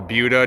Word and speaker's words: Buda: What you have right here is the Buda limestone, or Buda, depending on where you're from and how you want to pronounce it.